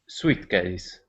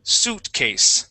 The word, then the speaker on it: suitcase: this word for me SASE all right very close now that word is pronounced Sue suitcase suitcase yeah the I would not be pronounced there suitcase okay so what is